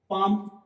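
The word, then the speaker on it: palm: पाम, पाम में भी L silent है तो हल्की आगे आवाज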